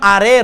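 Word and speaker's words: ڑے: না আরে এভাবেও না, আরে হয়ে গেলে র, আডে হয়ে গেলে ড, আরে, ড এবং রর মাঝখানে ডয় বিন্দু র, কেমন?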